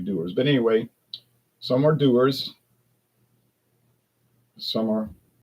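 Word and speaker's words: Dewar's: Doers, doers, doers. I know one store manager call it doars.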